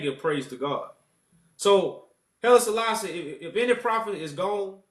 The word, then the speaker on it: Haile Selassie: What's your viewpoints on Haile Selassie? Did I say his name right? Haile Selassie. Yeah, Haile Selassie.